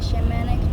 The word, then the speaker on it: shaman: Thanks for sticking around for Chapter 2, the Shamanic Journey Introduction. The shaman, pronounced Shaman, is a word from the language